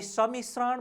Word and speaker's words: सम्मिश्रण: ख्याल गर्नुहोस् भाइ बहिनीहरू, हामी सम्मिश्रण भनिरहेका हुन्छौँ।